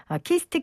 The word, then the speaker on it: KIST: 먼저 키스트 계산과학연구센터 김찬수 박사 나오셨어요. 안녕하세요. 예, 안녕하세요. 김찬수입니다. 키스트라고 읽는 거 맞죠?